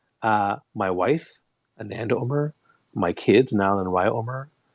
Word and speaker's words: Umar: myself as hey hi my name is Umar which is wrong that's not how it's pronounced uh my wife Anand Omer my kids now in wyomer I'm from the